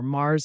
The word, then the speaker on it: mars: Valentine Wednesday March or Mars in French is pronounced just like the planet Mars it signals the arrival